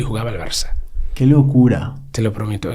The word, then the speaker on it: Barça: Nosotros no pronunciamos Barça, decimos Barca. Porque la C trancada, la C catalana, esta no existe en inglés.